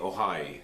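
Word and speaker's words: Oahe: this pipe goes under Lake Ohio is spelled o ahe the pipeline would carry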